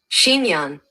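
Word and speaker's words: chignon: Pronunciation. Let's get Shinyan.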